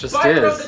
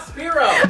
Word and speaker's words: Spyro: why is it SPO is Dragon John it's Spyro the Dragon I can't tell you why his name Spiro why is my name pronounced John that's how people pronounce it it's not it's not it's not speo I got like a philosophical AR why is